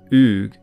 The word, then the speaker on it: Aed: Aed, or in modern Gaelic pronunciation, Uug, simply means fire, and is cognate with the Latin word for temple, derived from the altar fire.